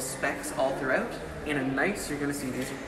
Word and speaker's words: gneiss: So this it's pronounced gneiss.